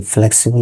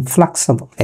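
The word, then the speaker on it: flexible: আমরা বলি ফ্লেক্সিবল, এটি ফ্লেক্সিবল না, এর উচ্চারণ ফ্লেক্সিবল।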